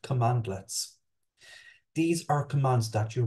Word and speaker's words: cmdlet: in the form of CMD letter pronounced commandlets these are commands that